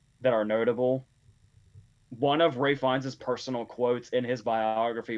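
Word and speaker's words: Ralph Fiennes: I don't know whether this counts as Ray Fiennes trivia, Josie, because it says his name rhymes with safe signs.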